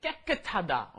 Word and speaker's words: 깨끗하다: pronunciation is very difficult for that one, isn't it? 깨끗하다. Okay, you got to get both of those 쌍기역 in there.